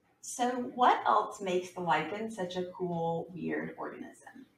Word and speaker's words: lichen: This kind of living organism is called a lichen. Lichen rhyming with like going hiking.